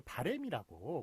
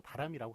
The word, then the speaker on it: 바람: 그러니까 우리가 발음을 할 땐 다 바램이라고 얘기하죠. 내 바람은 이렇게 얘기하는 사람 별로 없어요. 그렇지만 이게 좀 언어 현실과 그 표기가 좀 많이 다른 그런 부분인데 물론 이제 발음도 바람이라고 하는 게 맞겠죠. 맞겠지만 현실적으로 발음은 좀 바램이라고 많이 하는데 쓰는 것은 바라다가 기본형이지 않습니까?